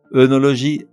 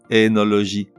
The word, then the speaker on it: œnologie: Œnologie, énologie.